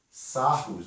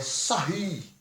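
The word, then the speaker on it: Sarrus: Sarros, aqui, ó. Regra ou lei dos sarros. Na verdade, é sarri. É o nome francês. Se escreve sarros, mas pronuncia sarri.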